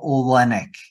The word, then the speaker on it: Oleynick: for everybody so that okay the last name is spelled o l e y n i c k and it's olenic Olen yeah I'm on I'm on like I